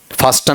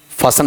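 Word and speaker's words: fasten: ऐसा फास्टन नहीं फासन बोला जाएगा।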